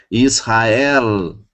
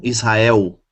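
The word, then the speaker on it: ישראל: Eu tenho que pronunciar o Lamed, o L, e não U, como é comum no português. Ok? Palavras terminadas em português com L, é comum da gente pronunciar U no lugar, né? Mas em hebraico, não. A pronúncia estaria errada. Então, eu tenho Shaul. Shaul é uma palavra terminada com Lamed. Shaul. Israel. Ok? Não Israel. E não Shaul.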